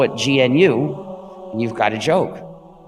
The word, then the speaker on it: GNU: still is gnu so be careful to print pronounce the name gnu and avoid the various erroneous pronunciations such as nu and linux when people say when people say